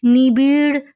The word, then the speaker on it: নিবিড়: এইখানে উচ্চারণটা দেখতে হবে, নিবিড় পাহারায়। নিবিড়ে কিন্তু ডয়শূন্য র, আর পাহারায় বয়শূন্য র, নিবিড় ডয়শূন্য র।